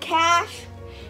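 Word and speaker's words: cache: And cash, it's not like money. It's spelled C-A-C-H-E.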